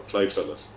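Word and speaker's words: Claimh Solais: a cve suus so the first word is like the name Clive um and the second word is Sol is so Clive Solus and it literally translates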